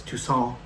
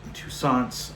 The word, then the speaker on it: Toussaint: And so I believe it's Toussaint, not Touissant.